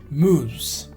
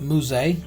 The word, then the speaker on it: mousse: So the next, mousse. It's not mousse, is the pronunciation is mousse.